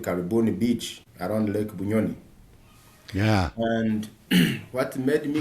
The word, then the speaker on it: Bunyonyi: I went to a place called Lake Bunyonyi, look for a job, and I landed on a campsite.